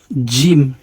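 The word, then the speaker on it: ج: তারপরে হরফটি হচ্ছে জিম জিম হরফটি হবে একটু শক্ত জিম যদি আমরা জিম বলি অথবা জিম বলি তাহলে উচ্চারণটি সঠিক হয় না আমাদের উচ্চারণটি একটু শক্ত হবে উচ্চারণটি হবে জিম জিম এরপরের হরফ হচ্ছে হালাল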